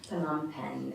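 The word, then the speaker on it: Phnom Penh: that for the sure it's p h n o m and the second word is pen p n took me a while to learn PanAm pen is the capital city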